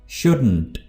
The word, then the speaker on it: shouldn't: Pronounce करते हैं, जैसे shouldn't, shouldn't। आपने इस टी को बिल्कुल हल्का सा प्रोनाउंस करना है, यानी इस पर आकर आवाज आपकी एंड हो जानी चाहिए, यानी shouldn't, shouldn't, ठीक है।